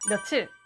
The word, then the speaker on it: 며칠: 몇 월, 몇 년, 며칠로 발음하시죠? 뭔가 이상하지 않나요? 몇의 받침 치읓 발음이 월과 년 앞에서는 사라지고 디귿이나 니은 발음으로 바뀌죠. 근데 며칠은 칠 발음해 보면 몇의 치읓 받침이 살아있네요.